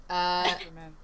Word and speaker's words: Ackerman: Ackerman. Like it's same as Mikasa's.